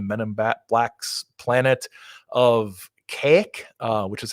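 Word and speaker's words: Kazik: goes to the men and blacks planet of cake which is how it's pronounced k-a-z-i-k um it's a weird book he's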